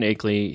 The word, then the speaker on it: Akeley: Akeley, yeah.